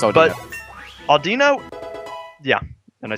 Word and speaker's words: Audino: Randomly, when you go across the field, I have a hard time pronouncing this Pokemon's name, so I let you pronounce it. It's Aldino. But Audino, yeah, and I said it right that time.